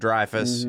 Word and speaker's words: Dreyfus: i thought of richard dreyfuss you know but apparently in france it is pronounced dreyfus even though most people definitely if you've heard of